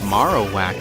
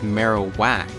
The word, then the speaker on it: Marowak: here look at marowak they always pronounce it maro whack or something like that in the animate but it's bone marrow so it's marowak is it not and I